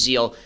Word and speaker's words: Zeel: I have used Zeal.